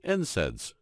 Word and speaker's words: NSAIDs: They also discovered that proteolytic enzymes are completely safe compared to non-steroidal anti-inflammatory drugs, or NSAIDs, pronounced NSAIDs, which is the most prescribed medication for treating conditions such as arthritis.